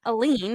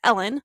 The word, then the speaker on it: Elin: It's not Aline, it's Ellen.